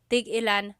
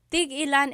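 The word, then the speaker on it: tig-ilan: Tig ilan is a homonym, meaning it can have different translations depending on how it's pronounced. So, tig ilan, when there's a hyphen in it, you have to have that glottal stop. Tig ilan. That means how many of each. When there's no hyphen, tigilan, tigilan.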